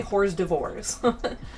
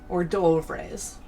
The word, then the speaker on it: hors d'oeuvre: You don't say hors d'oeuvres. Like, or d'oeuvres.